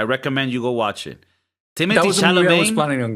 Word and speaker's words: Timothée: What do you mean, Timothée? It's not Timothée. He said that his name is Timothée. Really? Yeah, but everybody calls him Timothy.